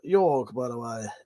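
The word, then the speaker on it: Jörg: That's what I think you'll find his name's pronounced Jorg, by the way. J is pronounced with a Y in German.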